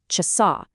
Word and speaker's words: часа: And listen to where the emphasis is. It's on that last syllable, часа.